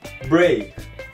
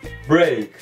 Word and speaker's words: break: E nesse phrasal verb aqui você deve pronunciar o E e o A nessa palavra com som de EI, break, break.